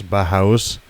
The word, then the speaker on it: Bauhaus: It's Bahuas or AUS or something like that. It's Bauhaus. Bauhaus?